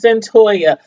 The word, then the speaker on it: Cyntoia: I'm like, how do you pronounce that name? But anyway, it's Cyntoia.